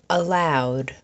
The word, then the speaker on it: allowed: Allowed. The sound at the end of allowed is owd, owd.